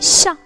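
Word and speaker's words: ش: The letter sheen, repeat with me, sha. The letter sha is pronounced like the clear English sound in H in show or shape.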